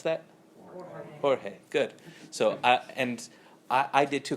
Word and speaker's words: Jorge: You know how to pronounce that? Jorge.